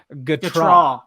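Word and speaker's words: Gautrat: You've been pronouncing it wrong, dude. The phonetic spelling, they got it's Gatrot.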